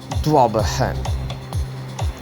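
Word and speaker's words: ضبحا: The next word is dabhan. Precise pronunciation would be dwabahan. This word means panting, breathing hard, huffing, puffing, blowing, wheezing, exhaling.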